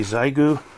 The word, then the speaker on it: Xiegu: big box aside and here we have the zaigu i know that's pronounced differently but it's an hf sdr transceiver